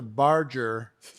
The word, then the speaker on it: Barger: last name is mispronounced it sounds like it is spelled barge like the boat with the er pronunciation which you could put